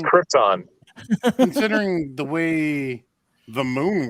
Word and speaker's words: Krypton: that they wear on Krypton. It's the reflective 3M material. They use the same stuff for lightsabers. First off, it's not Krypton, it's Krypton. Second, right, whatever.